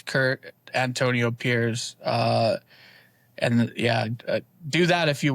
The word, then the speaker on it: Pires: It's Curt Antonio Pires.